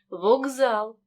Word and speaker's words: вокзал: парний дзвінкий вимовляємо боротьба в слові вуксал глухий к перед дзвінким з тому він переходить у парний дзвінкий вокзал слові просьба глухий сі